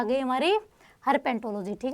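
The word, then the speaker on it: herpetology: किस में जाना पड़ेगा, हर्पेटोलॉजी में। ठीक है, हर्पेंटो नहीं है, हर्पेटो, में भी थोड़ा गलत प्रोनाउंस कर दिया, हर्पेटोलॉजी है। ठीक है, तो आप इस पर ज़्यादा फोकस करना, हर्पेटोलॉजी है।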